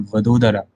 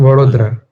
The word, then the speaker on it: Vadodara: So uh, this Varoda or Vadodara, how do you pronounce it? Uh, Vadodara.